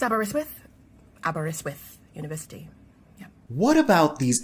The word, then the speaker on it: Aberystwyth: Look, it's Welsh, and I don't even know where to begin with the pronunciation. Aberystwyth University? It's Aberystwyth University.